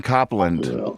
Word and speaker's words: Copland: google it oh american composer no e aaron copland i am i i apologize i've been saying